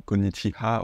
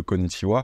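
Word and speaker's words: こんにちは: à travers l'écrit B vous allez peut-être dire des choses comme kogichiha au lieu de kogichiwa des watashiha à la place de watashiwa ce genre de chos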